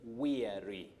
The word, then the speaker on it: weary: Betty, when we talk of wary, Yeah. we are referring to Wary. W-A-R-Y. W-A-R-Y is wary. But the word that you're asking about, which came from Zakina Abdi of Mombasa, is weary. Weary. I'm weary.